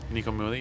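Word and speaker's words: Nico Muhly: on the record you had uh a composer Nico mly is that how you pronounce his name Nik mly yeah yeah tell us a little bit about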